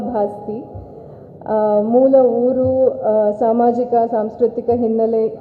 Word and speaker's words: ಭಾಸ್ತಿ: ಬಗ್ಗೆ ಹಲವು ಚರ್ಚೆಗಳನ್ನ ಕೇಳಿದ್ದೇನೆ ನನ್ನ ಸರ್ನೇಮ್ ಅನ್ನು ಬಾಸ್ತಿ ಬಸ್ತಿ ಬಸದಿ ಬಸಂತಿ ಅಂತ ಏನೇನೋ ಬೇರೆ ಬೇರೆ ಸ್ಪೆಲ್ಲಿಂಗ್ ಗಳಲ್ಲಿ ಯದ್ವಾ ಅಥವಾ ಉಚ್ಚಾರಣೆಗಳಲ್ಲಿ ಹರಡಿವೆ ನಾನು ದೀಪಾ ಭಾಸ್ಪತಿ ಮೂಲ ಊರು ಸಾಮಾಜಿಕ ಸಾಂಸ್ಕೃತಿಕ